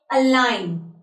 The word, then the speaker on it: align: So there are few words over here in which we won't be pronouncing the letter G while we are speaking these words. Fine. So number one word, align.